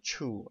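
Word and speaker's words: ĉu: And that word is chu, and it's spelled C with a little hat above it and U. So chu.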